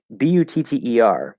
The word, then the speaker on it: butter: So, butter in American English, it's spelled with two T's, but it's just a flap D. Okay, it becomes a flap D because we have all the parameters there to create the flap D.